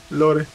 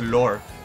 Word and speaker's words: lore: Se supone que la pronunciación correcta es lore. Lore, que fue como Folklore, folklore, algo ajá, de ahí así. viene la palabra. Pero todo el mundo la dice lore.